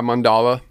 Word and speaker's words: Mandala: The previous record to that was called, I think I'm pronouncing this right, it's Mandala? Yeah, Mandala.